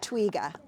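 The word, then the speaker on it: twiga: Twigga. It's pronounced twigga.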